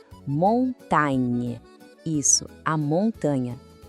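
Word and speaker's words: montagne: O detalhe aqui é esse som no final. Tente comigo. Montain.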